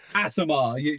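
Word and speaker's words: Aasimar: Asimar. That's it. That's the fucking pronunciation. Thank you very much, Alf. Just remember, the first bit of its name is what you are. Ass.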